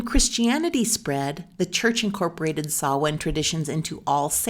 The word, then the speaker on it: Samhain: And sawin is that weird word that looks like you would pronounce it samhine. But sawin marked the end of the harvest season and the beginning of winter.